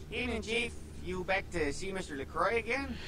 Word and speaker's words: LaCroix: you back to see mr lacroix again the cry is how you pronounce it okay yeah okay send